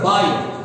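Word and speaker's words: bier: Number 6 is a buyer. B-I-E-R. Buyer. You pronounce that word as a buyer. B-I-E-R. Buyer. Now, what is this a buyer?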